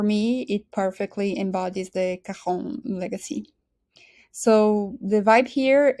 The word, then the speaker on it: Caron: All right, so Karon is one of the most respected, longstanding uh French perfume houses with, and I guess I should have pronounced it Kahon.